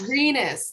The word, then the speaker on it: Rinas: say your last name rinas renus renas there we go doesn't sound like how it's felt at all okay so with